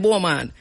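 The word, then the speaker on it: Beaumont: right where somebody said I'm going spell it to you because you don't know where me talking it is B E A U M O N T B right but we call it Bulman and it is in Hopewell St.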